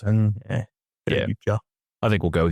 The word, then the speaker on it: Yautja: And when I looked up, I'm like, the closest thing I can think is Yautja. I sort of make the A sort of silent, and Yautja. I think we'll go with Yautja today.